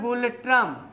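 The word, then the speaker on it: ngultrum: देश उसका नाम है गुलट्रम क्या है गुलेट्रम ना साइलेंट है उसमें गुलट्रम ये चीन की मुद्रा युवान है लेकिन उसके पूर्व जाएंगे जापान की मुद्रा येन है।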